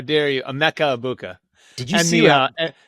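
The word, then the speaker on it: Egbuka: A Mecca Ibuka. Did you see the And just for people who don't know, the G is silent. It's a Mecca abuka.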